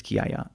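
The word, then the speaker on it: Chiaia: However, kaya, which I just mentioned, which is spelled like it's chaya. C h i a i a. Yeah. So, it's just ch in in Italian. There's a k sound in English. K. So, it's kaya.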